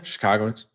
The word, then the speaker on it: Chicagoans: So, I know Wrigley, you Chicagoans, did I say it right? Yeah, Chicagoans.